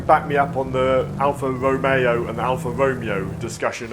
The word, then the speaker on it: Alfa Romeo: from Europe and wants to know how to pronounce Caterham properly. Also, Alfa Romeo. Not Alfa Romeo, there it is. Alfa Romeo.